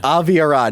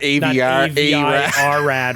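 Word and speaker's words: Avi Arad: and uh i'm sorry how do you say his name avi ahrad aviarod aviarad not avr rad or whatever you called him earlier aviarad pretty much like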